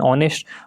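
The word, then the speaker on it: honest: Option number B she sign ऑनेस्ट। ऑनेस्ट के साथ हमेशा एन लगता है, क्यों? क्योंकि एच जो है साइलेंट रहता है, इसमें वॉवल साउंड है,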